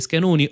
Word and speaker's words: Schenone: Naturalmente si legge Schenoni oggi in procura con lui Tommasi che è